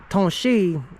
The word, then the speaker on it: Tanasi: As the word Tanasi is pronounced Tonshi in the Cherokee language, and Tonshi is actually